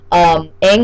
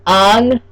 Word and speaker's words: Aang: I don't know why they couldn't say Aang instead of Ong. They had to say Ong.